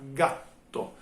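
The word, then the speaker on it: gatto: característica é aí seria a pronúncia particular que as consoantes duplas tem na língua italiana é se eu falar a palavra um animal gato em italiano eu vou falar gato é só falar para tem dois terços EA pronúncia dá para perceber que é um pouco diferente e tem como uma pequena pausa é que acontece no meio da palavra gato já na outra palavra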